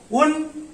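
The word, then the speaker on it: ん: का यूज करते हैं, लेकिन जब इसको सिंगल प्रोनाउंस किया जाता है, प्रोनाउंसिएशन होता है उन और उन और लेकिन जब हम लोग इसको कोई वर्ड में इस्तेमाल करेंगे, जैसे कि का बान, तो देखिए यहां पे मैंने लिखा है का बा एंड उन। तो जब मैं प्रोनाउंस कर रहा हूं सेपरेटली एक एक लेटर को, तब इसका प्रोनाउंसिएशन होगा का बा उन, और एक साथ में एज ए वर्ड काबान।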